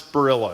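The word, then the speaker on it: Barilla: So, I I'm going to play for you a commercial from How do you pronounce Borilla? Is Borilla how you say it?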